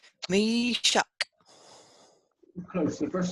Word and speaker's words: Meshach: So it's two syllables. The mem and the yod, and then shak is the second syllable. So the first one is Meshach. Yep. Meshach.